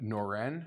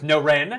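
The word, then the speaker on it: Norén: That's with Noren? With Noren, yes, Alexander Noren. What's the right way to pronounce it with that accent?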